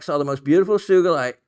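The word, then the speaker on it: sugilite: So anyway, uh she also some other common small tidbits I like saw the most beautiful sugulite rough remember hard G but was out of money by the time I saw it.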